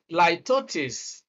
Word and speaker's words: litotes: Litotes, please get it right. Litotes, that's actually the correct pronunciation.